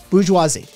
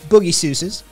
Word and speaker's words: bourgeoisie: b-o-u-r-g-e-o i-s-i-s-e i-s-i-e sorry bourgeoisie right that's the word bourgeois we did uh boogie seuss's isn't it is an acceptable alternate pronunciation on this channel um but to understand